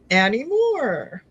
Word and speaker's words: Annie Moore: And then, da, da, Annie Moore. Annie Moore. Yes, Stardust. Good, we were saying it right the whole time.